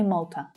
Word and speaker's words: Malta: Now you might hear the vowel sound in that stressed syllable pronounced slightly differently by different native English speakers, but I say Malta. Marshall Islands, Marshall Islands.